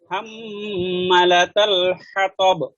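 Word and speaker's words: حمالة الحطب: এই আপনি একটু ওই যে হাম্মা, এটা একটু উচ্চারণটা একটু করে, যে হা যেটা ভিতর থেকে, হাম্মালাতাল হাতাব, দুটোটাই ভিতর থেকে।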